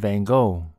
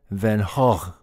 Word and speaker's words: Van Gogh: of the artist Vincent van Gogh in the U.S is pronounced Van Gogh but he was Dutch and they pronounced his name as Vincent Van hog in this video I